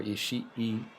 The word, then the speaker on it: Ishii: Tomohiro Ishii Ishii. keeping a close eye Not on this match Ishii tonight. or Ishii. It's Ishii. And I have the E sound like for like another second.